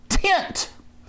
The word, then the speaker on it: Tynt: week geek software the week this week is tint t-y-n-t tint so you've got to spell it funny so you can get a url